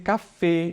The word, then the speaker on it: Café: Aí eu já tenho das Café, que é uma palavra neutra, e a gente pronuncia assim, olha, café. Então, a tônica recai sobre o E aqui.